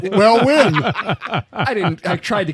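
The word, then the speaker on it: Huynh: think yeah it's pronounced win yeah there's no g in it like h y u n h I believe yes yes it's not hung it's not but although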